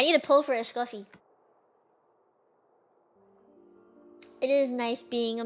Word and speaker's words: Escoffier: Yeah, I call her Escoffier as a nickname instead of saying the fancy Escoffier like the French do and not pronounce their R's.